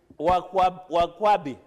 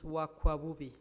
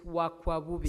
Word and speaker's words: Wakwabubi: Point of order, Wakwabubi. Wakwabi. It's Wakwabubi. Wakwakubi. As one of our... Say it correctly, it is Wakwabubi.